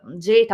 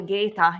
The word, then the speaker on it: Geta: When we look at Geta or Geta, it depends on how you pronounce in ecclesiastical or classical way the Latin, we see his face